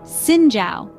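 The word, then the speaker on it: Xin chào: greet each other with a polite zinow pronounced Singa accompanied by a slight bow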